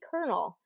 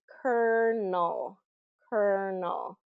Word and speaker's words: colonel: a colel of corn but it's it's pronounced exactly the same way a colel in the